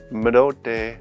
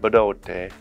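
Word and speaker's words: Bdote: Medote, or sometimes pronounced Bedote, is a confluence of two bodies of water.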